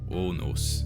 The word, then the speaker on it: onos: O was pronounced as a single sound single vowel. So not like in English more like o for example onos which means ashtree.